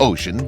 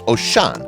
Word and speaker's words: Oshan: It looks like ocean, but it's actually pronounced as Oshan, and it is by